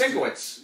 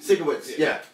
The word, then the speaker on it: Sienkiewicz: God, I cannot pronounce his name correctly. Bill, Sienkiewicz. Oh yeah, no, just Sienkiewicz. Sienkiewicz.